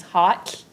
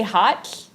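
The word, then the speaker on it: ha7lh: it when you say hot it's spelled h a 7 l h so how you pronounce the lh is you put your tongue to the roof of your mouth and you blow so can everyone do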